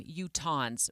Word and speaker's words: Utahns: Utah, U-T-A-H-A-N-S is how they spelled it out.